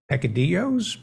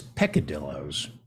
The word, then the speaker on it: peccadillos: much information about your sexual peccadillos picadillos peccadillos armadillos peccadillos I stand corrected okay heck it's peccadillos I I need to